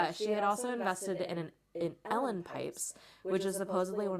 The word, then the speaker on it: Uilleann: So, I'm pronouncing it Ellen pipes, but they're spelled, you ready for this? No. Uilleann. Uilleann. But it's pronounced Ellen.